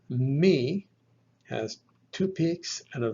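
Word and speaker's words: μῦ: Remember from our earlier discussion, this is the labial nasal, pronounced by putting the lips together and forcing the air through the nose, like M in the word moon. The letter is called me, has two peaks and a valley in between.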